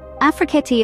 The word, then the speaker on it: Afrekete: Remember, Afrekete is pronounced Afrekete.